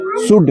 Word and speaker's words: should: COULD कुड, L silent है। WOULD L silent. कुड, good. SHOULD क्या? Sir good. SHOULD शुड, शुड। L silent.